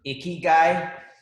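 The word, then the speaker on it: 生きがい: about that but it's literally pronounced um icky guy uh like an icky guy but that's how you pronounce it and there's two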